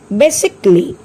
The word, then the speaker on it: basically: The word is basically. Here also A is silent.